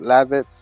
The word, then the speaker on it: Lavitz: Most people pronounce it Lavitz. I choose to pronounce it Levitz.